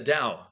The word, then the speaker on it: Tao: to pronounce it right the tow the da is that correct yeah the da SP Tao but it's can you